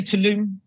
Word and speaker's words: Tulum: Also, with the Tulum trip, I know that. How do you say it, Josh? Do you say Tulum?